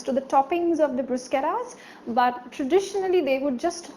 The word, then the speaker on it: bruschetta: it's called Bruce Cara it's not bruschetta okay it's not your shoutout but it's juice okay okay it's Bruce Cara Tom Cruise so it improves start brews and like the rolling R so it's Bruce okay so it's a